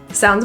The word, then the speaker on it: sounds: Sounds great. It means that's excellent, that's fantastic. Yeah, we'll drive together. Sounds great. The second S in sounds is pronounced as a voice Z.